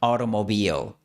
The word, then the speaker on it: automobile: Puedes notar estos dos pasos en la palabra automobile. Entre la I y la O se inserta una vocal extra. automobile, Esto se conoce como pre-L breaking.